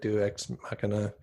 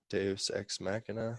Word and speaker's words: deus ex machina: Deus ex machina. Yeah, Deus ex machina.